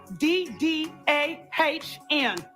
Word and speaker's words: TSIDDAHN: TSIDDAHN. That spells sit down. It's the way she milks that silent T.